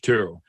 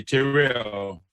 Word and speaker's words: Terrell: she owed Mary Church Terrell. And she would always say, sometimes I slip and I say, "Terrell." She said, "No, it's Terrell." She always said that you have to make sure you pronounce it.